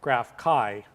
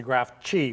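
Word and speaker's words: GraphChi: a system so you think this would be pronounced graph Chi but if not it's actually graph G for Chihuahua because it was designed for smaller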